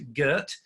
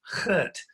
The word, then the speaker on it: Kurt: pronunciation by the way it's not to Gert it's Kurt so Kurt is